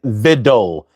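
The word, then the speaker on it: victuals: So if you look right there, there's the word viddle and it has the pronunciation. You see how it says vidole? Vidol.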